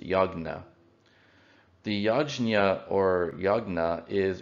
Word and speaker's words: yajna: a ritual known as yajna as it was known in the ancient language of the indo-aryans now it would be pronounced yagna the yajna or yagna